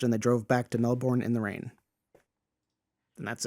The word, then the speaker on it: Melbourne: before they finished and they drove back to Melbourne in the rain and that's it. Yeah. Also, it's it's Melbourne.